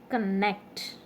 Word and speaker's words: connect: stress is on play connect okay so for connect net is stressed okay and uh there